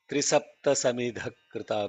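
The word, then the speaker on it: त्रिसप्त समिधः कृताः: You did a good job in saying Trisapta Samidha Krita, where the Trisapta had to be emphasized, yes, but the Samidha is not emphasized. Trisapta Samidha Krita.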